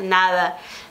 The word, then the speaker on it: nada: Muda às vezes um pouquinho a pronúncia, aquele D mais, né, nada.